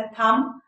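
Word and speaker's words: thumb: जैसे पहली वीडियो में आपको मैंने बताया था थम, थम, थम्ब नहीं, थम, थम, राइट।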